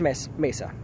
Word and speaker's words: Mesa: So, and I'm gonna say it right now, it's pronounced Mesa. Yeah, everyone's like Mesa, and like, oh my God! I know, it's because they don't live in Arizona.